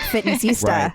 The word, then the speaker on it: Fitnessista: I feel dumb saying Sista. So I really like Fitnessista.